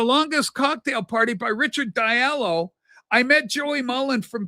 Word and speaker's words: Diallo: He said, you're saying it wrong. It's Diallo. He's a good friend of ours because Joey's from Liverpool too.